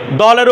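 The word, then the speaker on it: دو: আচ্ছা, তাহলে দলের উপর পিস থাকলে পিসের উচ্চারণ কি ও, তাহলে দল পিস দো, এটা দৌ না দো, ঠিক আছে, দৌ নয় দো, একটা ওকার একটা ঔকার, পার্থক্য আছে না, এটা দো, ঠিক আছে।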